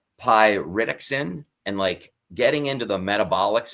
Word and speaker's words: pyridoxine: vitamins, and also the B6, which is it's pronounced pyridoxine.